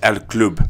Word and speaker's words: El Club: It's pronounced El Club. El Club, okay.